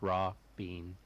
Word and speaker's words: Rabin: Josh, I named it Rabin. Nice. Ruby. Rabin the sword. And pronounced raw bean.